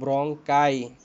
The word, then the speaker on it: ব্রঙ্কাই: যদি দুইটা একসাথে বলো তাহলে হবে ব্রঙ্কাই, প্লুরাল হলো ব্রঙ্কাই।